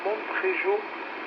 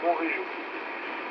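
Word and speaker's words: Montréjeau: On ne dit pas Montrégeau, même si un D, il se prononce pas. Donc c'est Montrégeau. Voilà.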